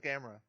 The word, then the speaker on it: Gamera: Going with Gamera as it's properly pronounced.